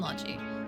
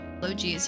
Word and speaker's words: Logy: Itellier, esca, and logi. Log is how they say it in Japanese. I was never wrong saying it that way. Just the English that is logi.